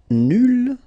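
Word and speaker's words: nulle: Nul will become nul. So phonetically it's the same, but then you double the L and you put at the end. Okay, so nul and then nul. Phonetically it is the same thing.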